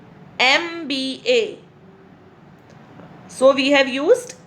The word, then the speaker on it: MBA: It is beginning with M, but the sound is E. MBA.